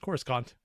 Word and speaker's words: Coruscant: Also, I don't know why you guys are all talking about Coruscant like that. It's definitely pronounced Coruscant.